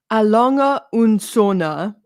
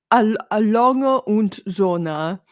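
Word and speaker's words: A. Lange & Söhne: Alonga und Sona. Alonga und Sona.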